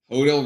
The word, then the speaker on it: Hodel: Hodel rhymes with yodel.